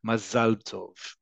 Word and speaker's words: Mazel Tov: It's perfectly all right, but just understand in modern Hebrew, the standardized way to say it is Mazel Tov.